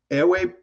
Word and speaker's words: Ewe: I've been saying EWE. How do you pronounce that, sir? Ewe. Ewe. Okay.